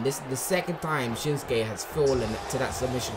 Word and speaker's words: Shinsuke: I said Shinsuke. That's how it's said.